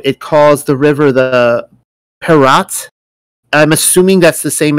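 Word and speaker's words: פרת: in the hebrew it calls the river the parat i'm assuming that's the same as the euphrates i really don't know i don't know yes so that's it's pronounced prat um in the bible it it's always um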